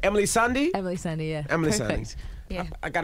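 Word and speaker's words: Emeli Sandé: special guest with us today how do i pronounce this right emily sandy emily sandy yeah emily yeah i got to put an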